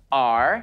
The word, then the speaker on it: Argentinosaurus: I have to break it up to say it right. Argentinosaurus. That's me. Whoa, that's a really big name. Let's practice saying it together again. Ready? Argentinosaurus.